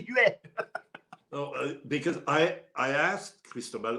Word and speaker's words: Huet: Remember Cristobal Huet's wife came out and said, no, my husband's last name, it's Huet. Don't say Huet.